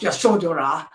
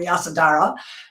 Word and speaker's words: Yasodhara: in my novel, and her name is Yasodhara, and sometimes it's pronounced Yashodhara, but I read it more than I heard it said, so I call her Yasodhara or Yasi.